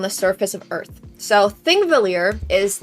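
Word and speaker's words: Þingvellir: a longer line, and it's pronounced like a T. It's like a th sound. Thingvellir, not Pingvellir. Sorry, there's a very specific,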